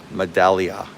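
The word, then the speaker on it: Medaglia: Medallia. Medallia. The G is silent, right?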